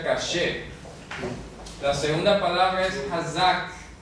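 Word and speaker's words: קשה: La segunda palabra, esto se pronuncia caché.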